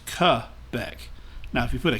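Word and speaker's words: Québec: of quebec now again this is french stuff so it's not pronounced quebec in french it is cu beck now if you put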